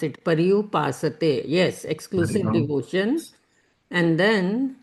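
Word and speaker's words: पर्युपासते: Would it be Pashupate, which means exclusive devotion? Yeah, Mummy, do you want to take that? That is called Paryupasate. Okay, sorry. Okay, that Paripas. is how we pronounce it. Paryupasate.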